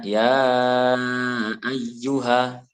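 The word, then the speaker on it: يا أيها: A itu adalah hamzah yang berharokat fathah. Hamzah berharokat fathah. Jadi bacanya ya ayyuha.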